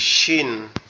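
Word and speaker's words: شين: আর এই যেটা আছে এটা হবে কি শিন। তাইলে কি দুইটা কিন্তু দুই রকম আওয়াজ হবে, একটা হবে কি মজবুত আওয়াজ, শক্ত আওয়াজ, আর একটা হবে কি চিকন আওয়াজ।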